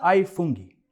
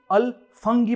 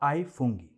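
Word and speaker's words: ai funghi: Pizza आई फुंगी। यहां India में जब भी कभी हम ALFUNGI को मेन्यू में देखते हैं तो इसे अल फंगी प्रोनाउंस करते हैं, मगर असल में इसे आई कहते हैं।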